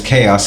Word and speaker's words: K.O.S.: careful with the lettering my name is chaos it's a k okay my flow is